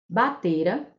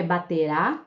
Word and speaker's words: batera: Esse trecho aí traz 3 verbos: espreitara, batera e conseguira. Esses verbos não estão no futuro, porque não está com a última sílaba acentuada. Não é espreitará, não é baterá e nem é conseguirá.